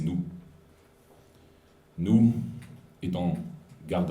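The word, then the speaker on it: Nouh: u h mais n Si on prononce à la française c'est nous nous étant garde à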